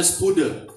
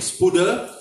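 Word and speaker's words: spoude: Spode, S-P-O-U-D-E-E, D-E, spode ya, bacanya spude, S-P-O-U-D-E, spude.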